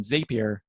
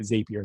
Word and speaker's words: Zapier: These web automation services like IFTTT and Zapier, sorry. Zapier is the correct pronunciation, but I've had a habit of calling it Zapier sometimes.